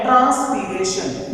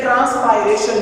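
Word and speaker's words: transpiration: तो इसके लिए एक साथ हम एक और प्रोसेस डिस्कस करते हैं जो कि है ट्रांसपीरेशन या ट्रांसपायरेशन की, इसको हम प्रोनाउंस करते हैं।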